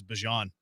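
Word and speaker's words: Bijan: Yeah, he says it's not bejan. He says it's Bjon.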